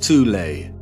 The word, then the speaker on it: Thule: called The Soul Society sometimes alternatively pronounced toulay that had sub-factions within